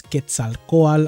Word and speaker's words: Quetzalcoatl: need next we got quetzalcoatl for anybody wondering how to pronounce it's quetzalcoal i think i saw